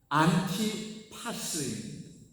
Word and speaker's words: 안티파스: 이 안디바는 본래 발음대로 하면 안티파스입니다.